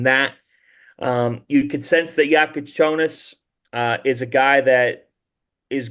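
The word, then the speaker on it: Jakučionis: I got some pronunciations that updated now, and it's Kasparis Yakuchonis. Yakuchonis, yes.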